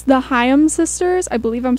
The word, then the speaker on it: Haim: too yes and um i think it's hayam okay because i said haim for a long time and i can't remember who was like no you're saying it wrong and i was like